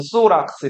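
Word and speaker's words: θώραξ: TH 발음해서 소락스 이렇게 부르고 여기 정강이 보호대는 크네미데스에서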